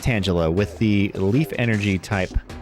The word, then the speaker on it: Tangela: And yes, it is pronounced Tangela with the leaf energy type reverse holo pattern.